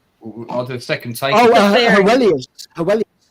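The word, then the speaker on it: Heweliusz: What am I going to pronounce, sorry? I'll do a second take. Hewelius. Hewelius.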